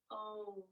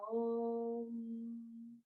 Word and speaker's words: Om: Om. Some people will say it with 3 syllables. Aum. But for our mantra today, it'll just be Om.